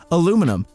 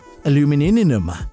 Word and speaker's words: aluminum: going to say the three ways people pronounce a aluminum so that I don't get yelled at aluminum aluminium aluminum there you go now don't yell at